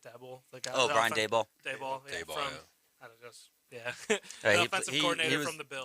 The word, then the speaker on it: Daboll: And then of the coaches they've listed so far that we're like interested in, I think Dabble, is that how you say it? Dabble? The guy, Oh, Brian Daboll.